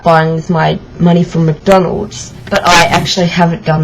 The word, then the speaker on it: McDonald's: want to work there I better pronounce it right it's McDonald's not MacDonald's I probably thought you